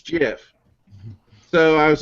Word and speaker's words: GIF: worth I pronounce a gift and he says yeah but i think that i think the person that invented it says it's jeff so I was like